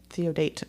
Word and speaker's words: Theodate: way to to say sure it's not te no theodate theodate wow so yeah uh